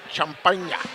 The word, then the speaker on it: Champaign: I believe that's pronounced Champagne.